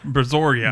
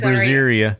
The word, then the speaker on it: Brazoria: it oh Brazoria yeah Brazoria brazor I kept calling it brazia and and the funny